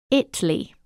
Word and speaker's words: Italy: started out in a small town spelled Italy pronounced Italy I thought you'd have thoughts it's literally spelled